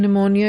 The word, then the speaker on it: pneumonia: For example, P in psychology is not pronounced, P in pneumonia is not pronounced, K in knife is not pronounced.